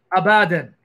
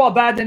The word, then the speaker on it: Abaddon: a favor click on this link abadan yep abaddon you don't need to read hebrew thank you